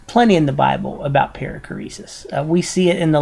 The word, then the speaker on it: perichoresis: here's here's Torrance again paracoresis is spelled with an Omega not an Omicron that's the long o with the Omega periclesis means making room or